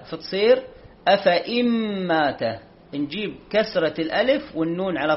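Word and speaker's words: أفإين: خلت من قبله الرسل، هذه أفإن مات الياء عليها دائرة مستديرة ما تنطق، هذا يسمى الصفر المستدير، ما تنطق هذه الياء، فتصير أفإن مات، نجيب كسرة الألف والنون على طول ونمشي.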